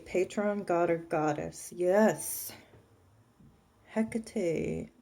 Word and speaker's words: Hecate: god or goddess yes Hecate or heck act however you pronounce it but I say Hecate yep she is amazing